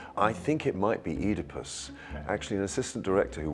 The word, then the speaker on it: Oedipus: It's Edypus. Well, you might not be mistaken. It's It's just the American pronunciation.